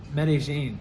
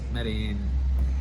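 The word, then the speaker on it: Medellín: But everybody in the west says medin. Uh in Mexico they say medin but here they say medigene.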